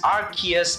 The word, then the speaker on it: Arceus: Okay, a few showed Pokemon Legends Arceus, because that's how you pronounce it.